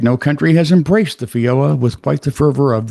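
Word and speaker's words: feijoa: The fioa. Fo fioa. Fiola. Spell it.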